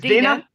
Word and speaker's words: Dina: Dena or Dianna Dena how do you pronounce your name it's Dina D ding ding ding